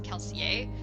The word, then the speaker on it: Kelsier: Anderson has said that Kelsey is actually supposed to be pronounced as kelsier but even he doesn't pronounce it that way everyone just pronounces it calcium and he's like he's